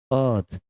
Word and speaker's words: Earth: इसलिए हो जाएगा दी अर्थ। इसमें आर जो है ना मेरे भाई, ये साइलेंट है, इसलिए ये अर्थ नहीं है, अर्थ है।